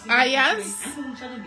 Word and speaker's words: Ayaz: His name is Ayaz, which is spelled A Y for Yankee A Z.